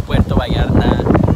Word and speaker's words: Puerto Vallarta: Diego finally taught me how to say it. It's Puerto Vallarta.